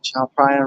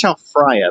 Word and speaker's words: Tha Phrachan: I was saying Tha Phrachan, but then I realized, PH. Yeah, PH is just P. I guess TH is also just T. Slightly different pronunciations, but for English phonemes, it's probably easier to just go with P and T, and you'll be understood.